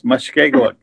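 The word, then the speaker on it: Mushkegowuk: Is that how to pronounce it, Lawrence? Very close, very close. Mushkegawk.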